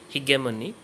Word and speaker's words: hegemony: concept of hegemony or some people pronounce it he gave money hegemony is also very similar